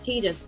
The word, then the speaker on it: Tidus: I learned from Dan, who's the community manager for Final Fantasy 15 in Europe, that Tidus is actually pronounced Tidus, but I can't do that.